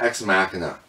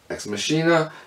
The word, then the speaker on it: Ex Machina: a break I've got X Makana X mashina depending upon how you pronounce it this was done by